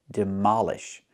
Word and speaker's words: demolish: Pronunciation, demolish. Put the stress on the second syllable.